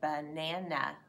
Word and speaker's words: banana: And it's actually, you can hear that 2 times in the word banana. In the first syllable, ba-na-na, in the 3rd syllable. We call that an open syllable, but it's not accented. So when you say the word, the accent is not in the syllable, banana.